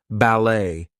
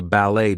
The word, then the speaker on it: ballet: But anyway, T is going to be silent in some words. There might be words that are borrowed from other languages, etc. So, things like ballet, gourmet, we are not going to pronounce the T there.